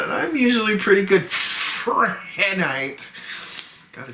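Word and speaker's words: Prehnite: Prenite. Prenite. P-R-E-H-N-I-T-E. I have trouble pronouncing that, and I'm usually pretty good. Prenite.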